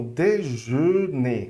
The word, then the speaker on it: déjeuner: Ela é um E fechado. Então, déjeuner, ok? Déjeuner. Como é que você vai fazer ela? Você vai não abrir muito os lábios, ok? Não vai abrir E, assim, vai abrir só